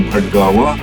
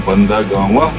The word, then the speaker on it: Bhatgawan: Folks, this is the road to Bandagawa, your Bhatgawa, you mispronounced as Bhandagama.